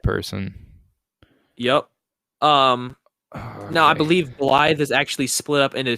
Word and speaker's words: Blaidd: It's spelled B-L-I-A. No, it's Blaidd, but it's pronounced Blythe. What? Yep. But that's It's so Blade.